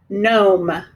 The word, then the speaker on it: gnome: Do we hear that E? No. We need to put a line through it. And our vowel needs to have a macaron above it because it is a long vowel sound.